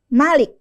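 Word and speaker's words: مالك: tuh contohnya yang pertama ada lafaz Malik tulisannya pendek Malaka tanpa ada madnya sama sekali tapi dibacanya Malik ya di surat Albaqarah malikal Mulk bukan malikal Mulk meskipun tulisannya malikal Mulk tapi kita bacanya malikal Mulk kita panjangkan huruf maanya kita tambahkan Alif setelahnya jadi itu contoh dari bacaan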